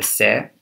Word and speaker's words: cere: So first of all, the cere, that's spelled C-E-R-E, and it's the white bit on the top of the beak, is larger in the feral pigeon.